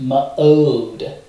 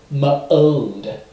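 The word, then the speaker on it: מאד: This is pronounced ma'od, ma'od.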